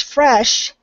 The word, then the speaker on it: fresh: The word fresh, you completely lost the SH sound. And that's sh, like you're telling someone to be quiet. So the word is fresh.